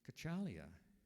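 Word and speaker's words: Cacciglia: not pronounced the way I was trying to pronounce it kachalia see so next yeah next week's spelling okay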